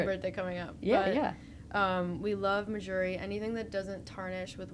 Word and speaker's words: Mejuri: I believe Mejuri. that's the correct pronunciation.